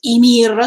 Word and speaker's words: Ymir: Yumiru, even if I know that the real pronunciation is Ymir, so please don't complain for this, thank you.